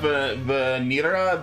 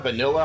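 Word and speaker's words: Vanille: What do you think about Vanira? Vanilla. I don't know. I think it's Vanil is how it's pronounced in English.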